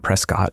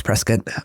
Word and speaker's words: Prescott: He's Arizona so it's not Prescott, it's Prescat.